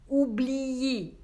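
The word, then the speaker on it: oublié: Произносим вместе «се пейе», улыбка «се пейе», «балее», «ублие». На конце «е», «е», «е».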